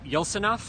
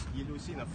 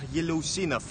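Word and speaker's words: Yeleussinov: Am I pronouncing it right? Yeltsinov? Yelusinov. Thank you. Can you say it again, Samir? Daniyar Yelusinov. Yelosinov. And this guy- It's like yellow sinov, yes.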